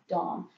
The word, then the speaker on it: Domme: So if you want to use Dom, use Dom. If you want to pronounce it Domme, pronounce it Domme. Just know that a lot of us sort of will give you a funny look at the very least, if that's what you're saying.